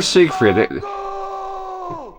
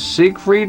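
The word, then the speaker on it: Siegfried: So, I'm thinking is this Sig Freed or Zigfrieded? In this case, it's German. I'm not sure. You know how how would that go? All right, let's go. Sig with like an S sound as is written. He's saying Zig, but it sounds like it.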